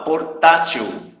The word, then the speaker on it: portátil: Eu ia dizer portátil. Portátil. Portátil. Ou seja, a sílaba tônica não é o til, que é a última, e sim a penúltima. Então, por isso que ela é uma paroxítona.